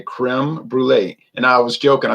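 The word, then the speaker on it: crème brûlée: to pronounce crem Brule because he's always saying crom Brule I say cro it's Creme Brule creme brulee and I was joking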